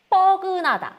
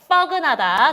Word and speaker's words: 뻐근하다: 뻐근하다. 자, 친구들 따라해야 돼요. fuck you 할 때 뻐근하다. 자, 친구들 뻐근하다. 아니고 뻐근하다. 쉽게 알려주는 거예요. fucking 할 때 라고 발음하면 돼요.